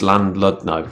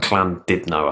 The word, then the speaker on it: Llandudno: We did a gig in, I can't say it, it's Llandudno. That's not how you say it. It's like Llandudno, I think you say it.